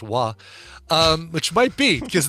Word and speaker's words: Roy: out this last Friday it's called Roy r-o-y or if you're a Canadian hockey player it's pronounced wah um which might be